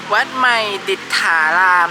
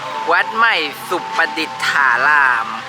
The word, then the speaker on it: วัดใหม่สุปดิษฐาราม: It's called Wat Mai Disthathan. I said it wrong from the beginning. Let's just select it for a moment. Wat Mai Supadittharam.